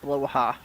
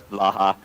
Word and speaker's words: Bloha: Dog is telling me that the shark's name is pronounced Bloha. Bloha? Yeah. Okay, I actually thought it was Blaha, which I thought was a cute sound, but Bloha.